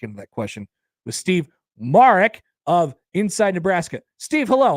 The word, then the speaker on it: Marek: Yes, so my last name is pronounced Marek, but to be honest with you, like you said, Connor, it happens so much where it's Marek that I've just kind of accepted it both ways.